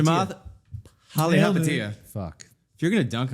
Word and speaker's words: Palihapitiya: Polyhopatiya. Chamath Palihapitiya.